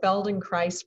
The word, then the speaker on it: Feldenkrais: i am cynthia allen i'm a feldenkrais practitioner rhymes with paradise spelled in christ rhymes with paradise and i think it helps if you have a mnemonic because that word feldenkrais is very hard to